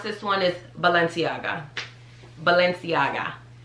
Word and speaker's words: Balenciaga: gang cardi b already told everyone how to pronounce this one is valenciaga balenciaga balenciaga so like this one's actually pretty easy um